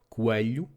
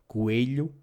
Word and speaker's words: coelho: The same goes for abelha, bee; coelho, rabbit; and espelho, mirror, which can also be pronounced abelha, coelho, and espelho. If you find it easier to pronounce abelha, coelho, and espelho, because the sound is more recognizable as an E, please do so.